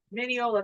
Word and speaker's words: Mineola: Mineola, that's how you say it.